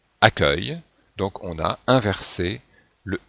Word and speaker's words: accueil: e u se prononce ce et comme on prononce accueil donc on a inversé le U et le